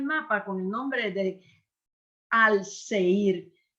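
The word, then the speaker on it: Alaşehir: con el nombre de al seir claro ellos lo pronuncian al sheir verdad y y Entonces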